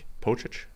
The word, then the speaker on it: Pocic: So bringing back Ethan Pocic. I mean, I never say his name the right way. Pocic?